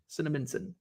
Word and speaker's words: Cinnaminson: How do you pronounce the city he was from? Cinnaminson, New Jersey. Where's Mark Marinello? Is it Cinnaminson? Cinnaminson.